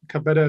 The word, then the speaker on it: Cabeta: Uh Cabeta is how you pronounce it, but feel free to call me. Um Senator Breen and distinguished members of the committee. Good afternoon. My name is Cabeta and I'm policy counsel